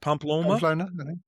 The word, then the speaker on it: Pamplona: How do you say Pmplon? Pamplona. The running of the bulls. Yes. Pamplona.